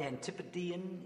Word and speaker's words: Antipodean: Okay, our next interview is with David Lilburne of Antipodean, is that pronounced correctly? Antipodean, if you are from the area.